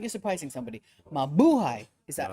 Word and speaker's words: Mabuhay: Stress on the second syllable. Mabuhay. Mabuhay.